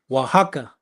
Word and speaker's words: Oaxaca: Oaxaca. Am I saying that right? Salaki, sir, or Oaxaca. Say it again. Oaxaca.